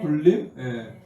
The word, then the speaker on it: 군림: 자음이 서로 부딪힐 때 뒤에 있는 자음과 동화되는 그래서 굴림이라고 읽죠, 그죠? 네. 굴림. 혼자서 군림이라고 읽습니까? 군림이라고 읽으면 안 됩니다, 여러분. 굴림이라고 읽어야 됩니다.